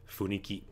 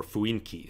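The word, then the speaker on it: 雰囲気: Funiki. Or fuinki, sometimes it's pronounced.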